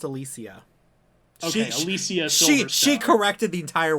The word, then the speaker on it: Alicia: her oh just so you know it is pronounced alicia she she corrected the entire world like two weeks ago i just want to bring it up later but that was alicia wow that was yeah um and that was